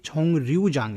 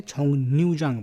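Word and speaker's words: 정류장: बट यहाँ पे इसको बोलेंगे तो छोंग रियूजांग नहीं बोलेंगे, छोंग न्यूजांग बोलेंगे इस तरीके से।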